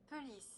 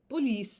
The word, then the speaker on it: pelisse: Can we do a French pronunciation? Police. Okay. Oops. Wait. Police. Police. There we go. It's just the same except sounding French.